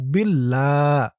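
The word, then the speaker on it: بالله: আস্তাগফিরুল rule ল উচ্চারণ হয়েছে আর এখানে ইল্লা বিল্লাহ বিল লা উচ্চারণ হয়েছে তাহলে এটা ল উচ্চারণ হলো আর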